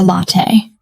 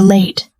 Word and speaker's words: latte: She wants a latte. She says, "I would like a late." "Please." The waitress looks surprised. "Late? You want to be late?" Anna blushes. No, not late. "Latte." "Coffee latte."